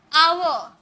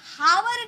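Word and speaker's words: hour: आवर आवर क्या हम बोल रहे हैं? जब भी हम हावर नहीं बोलते इसे हम हावर नहीं बोलेंगे। आवर एच साइलेंट होता है।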